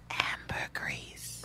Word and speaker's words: ambergris: oh and agree sorry the s is silent ambergris oh really chris my